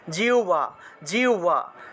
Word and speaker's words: জিহ্বা: উচ্চারণ করি না এটা জিহ্বা উচ্চারণ জিহ্বা হবে না উচ্চারণ হবে জিউবা তাহলে এইভাবে উচ্চারণ হবে আমরা যে জিউভা বলি না আমরা জিউভা উচ্চারণ করি হ এর সাথে বফালা এটা আসলে জিউবা জিউভা উচ্চারণ হবে